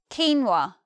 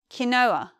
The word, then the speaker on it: quinoa: eat them first one quinoa this word has two pronunciations some people say quinoa other people say Kanoa Kanoa moving on next